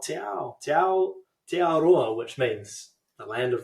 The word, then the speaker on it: Aotearoa: Aotearoa.